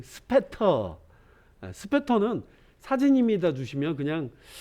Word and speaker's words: Spatter: 자, 이게 제가 사용하려고 하는 필터 갤러리에 있는 스페러, 제가 뭐 미국식 발음으로 스페러 해봤지, 스페터.